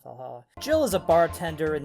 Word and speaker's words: VA-11 HALL-A: It's spelled VA-11 Hall A. I'm just gonna fucking call it Valhalla.